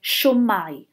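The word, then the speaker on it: shwmae: hear semi semi ad in South Wales you'll hear show my show my so adding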